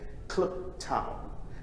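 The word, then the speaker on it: Kliptown: I was born in a town called Klip Town, and Klip is spelled K-L-I-P, which means rock.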